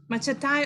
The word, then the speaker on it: machete: Machatai or machadi or machidi or which one? So like, what is the pronunciation for Machete? Machete. Yeah, machete. And like it's some sort of a knife. I mean a knife. Okay, machete. Pronunciation is machete.